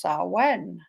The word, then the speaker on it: Samhain: It's spelled Samhain, but it's Samhain.